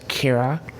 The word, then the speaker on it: Ciara: first heard of it, change my favorite spelling to Ciara, but most people on Nameberry pronounce that as Kira, and so I decided to switch it back.